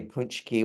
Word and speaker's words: pączki: his name is Paczki, and which is really Punchki, which is a Polish jelly donut we have here in Michigan that's spelled Paczki.